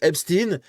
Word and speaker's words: Epstein: dans le monde et nous les Français on prononce H Epstein parce qu'on a toujours eu l'habitude avec Frankenstein euh Albert Einstein, Harveinstein, bref voilà on a l'habitude de prononcer comme ça, c'est tout.